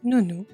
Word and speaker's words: nounou: And a little trick here, guys, a little tricky part, because as you can see, the word nounou is pronounced the same as the subject nous.